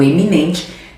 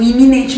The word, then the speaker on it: eminente: Professor, mas eu pronuncio iminente ministro. Não, mas tem que pronunciar para você ter uma boa prosódia, ortoepia, o jeito de você articular direito os fonemas. Então, eminente, ilustre político, né?